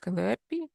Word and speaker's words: Calliope: Extremely difficult to pronounce, and but Calliope, they call it Calliope, is a multi-scale energy system modeling framework, which is written in Python.